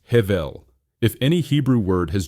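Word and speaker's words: הבל: This brings us to our second crucial term, hevel, spelled hevel and pronounced hevel.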